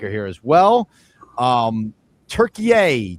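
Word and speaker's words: Türkiye: Um Turkeye Turkeye is who the USA is playing today. That's formerly just regular Turkey.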